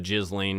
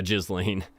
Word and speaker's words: Ghislaine: Yeah, Ghislaine. I had a lot of people comment, that's not how you pronounce her name. Okay. Kind of is spelled that way, though. If you do the soft G. Ghislaine.